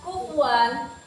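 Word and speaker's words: كُفُوًا: Kemudian pada kata kufuan itu hukum tajwidnya izhar. Karena ada tanwin yang bertemu dengan alif. Cara membacanya itu jelas seperti ini. Kufuan.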